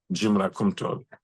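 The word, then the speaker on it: Djimra: my middle name Jim DJ i m r a so the D in this context is silent when you speak English JRA JRA last name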